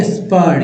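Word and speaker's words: spurn: स्पर्न, स्पर्न, स्पर्म नहीं स्पर्न, याद रखिएगा स्पर्न।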